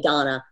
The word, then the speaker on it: Dana: Yeah, it's spelled Dana, but you say Donna.